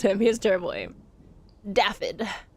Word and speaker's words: Daffod: Daffod. I believe it's pronounced Daffod. They say it once in the game, and I think they pronounce it Daffod.